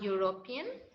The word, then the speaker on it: European: If the pronunciation of E or U starts with that of U, then before that very word we will use A. See, A-U-V. Okay, so the pronunciation has started with U, and that's why we